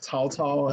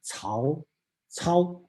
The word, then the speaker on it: Cao Cao: Okay, unfortunately, the English Romanized spelling doesn't have the tone, so should pronounce it Cao. Cao. Okay, that's two words. Cao is his last name. Cao is his first name. So okay, some people pronounce it very strange, Cao Cao, something like this, but that's Cao Cao.